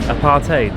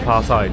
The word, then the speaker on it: apartheid: It's pronounced apartheid, not apartheid.